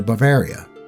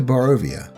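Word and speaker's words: Barovia: the whole way to bavaria i just realized that i've been mispronouncing that up until now only stopping to rest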